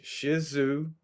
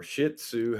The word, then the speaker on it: Shih Tzu: right so this is a Shizu or Shih Tzu however you want to pronounce it chahua mix and it's